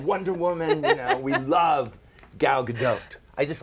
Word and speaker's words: Gal Gadot: go not transformers not Wonder Woman we love gal gadot I just like to say that cuz I